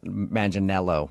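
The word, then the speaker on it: Manganiello: Uh, because we talked to him and he told us that a lot of people say he looks like Joe Manel Maninello, right?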